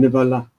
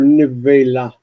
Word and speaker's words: נבלה: A repulsive thing, nevala. This is very close to the word for nevela. Nevela is a dead body, a corpse. Nevela as opposed to nevala.